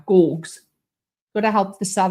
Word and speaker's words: Gorgs: Hard G's. So it's a hard G, not a G, but a G. Gorgs. Is it that right, Matt? Am I saying it right? Gorgs.